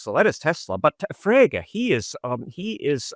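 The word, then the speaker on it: Frege: Uh, you know, but Frager Gotlob Frager.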